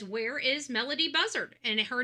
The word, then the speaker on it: Buzzard: And her last name is Buzzard, just like the bird.